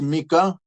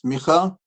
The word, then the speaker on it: Micha: People pronounce it as Mika. It's Micha, chapter 7, and the verse 8.